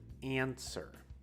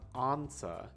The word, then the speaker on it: answer: used in japanese sometimes so this word is answer not ansa right when you when